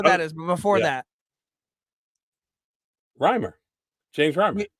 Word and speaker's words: Reimer: I don't know who that is, but before that, James Reimer. I think you said Reamer.